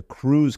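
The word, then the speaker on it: krewe: that's where the the crews came into place right and by crew it's spelled k we but there are a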